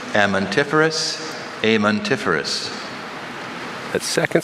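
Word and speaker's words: amentiferous: Can you please repeat the alternate pronunciations? Amantiferous, amantiferous.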